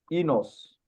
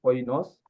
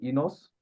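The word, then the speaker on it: οἶνος: Les mots les plus utilisés en grec, c'est inos, ou si vous voulez, oinos, mais la prononciation moderne, c'est inos.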